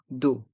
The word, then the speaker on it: d'eau: le dessert une carafe d'eau une Cara d'eau les lettres e a u se prononcent o comme la lettre O d'eau une carafe d'eau